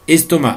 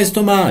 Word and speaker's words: estomac: pour estomac attention à estomac là aussi je vous conseille d'aller le voir dans le dictionnaire parce qu'estomac a une consonne muette qu'on prononce dans le sud de la France parfois 4 est-ce que c'est